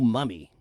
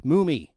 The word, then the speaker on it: Mumy: Anyway, no, it's Mumy. Yeah, and I'm sure he's gotten that all his life. It's understandable, though, the way it's spelled, but no, it's 2 M's is Mummy, okay? 1 M, that's Mumy.